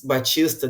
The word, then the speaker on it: Baptista: And I always wanted to say, "My name is Batista. The P is silent."